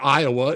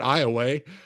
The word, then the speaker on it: Iowa: pronounce it Iowa and not Iowa.